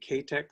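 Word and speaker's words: CAATEX: So there's I guess it's you pronounce it CATEX, C-A-A-T-E-X, expeditions, both one out of Svalbard and one out of in the west.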